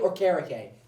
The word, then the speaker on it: Okereke: But Nickel and AK, I forget how you say it. It's Bobby Okere, AK Okereke.